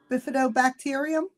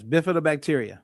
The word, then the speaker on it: bifidobacteria: The bifido bacterium. Uh yes, bifidobacteria.